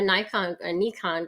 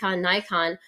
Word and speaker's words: Nikon: I'm a Nikon girl if you want to pronounce it the way it's pronounced, but Nikon, that was my first camera Mm.